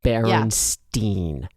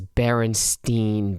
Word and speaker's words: Berenstain: like the one that baron steen this is the one that like blew up the mandela yes i feel like um it is spelled b-e-a-r-e-n-s-t-a-i-n not e-i-n and people swear it was berenstein bear so you can hear